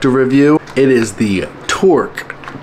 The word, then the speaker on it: Torq: It is the Torq. Yes, I'm saying it right this time. Not Toro. It's a Q.